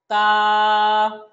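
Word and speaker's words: تاء: বা, তারপরের হরফটা হলো তা। তা, তা হরফটা যখন আমরা উচ্চারণ করব তখন জিহ্বার আগাটা উপরের দাঁতের গোড়ার সাথে লাগিয়ে আমরা বলবো এবং এক আলিফ টানবো।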